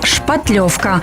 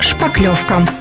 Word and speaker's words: шпатлевка: Стоит отметить, что правильный вариант написания этого слова – «шпатлевка», так как образовано оно от немецкого слова «шпатель» или «лопатка». Но в силу неграмотности подавляющего большинства населения это слово прижилось в неправильном варианте произношения и правописания. И теперь мы произносим «шпаклевка».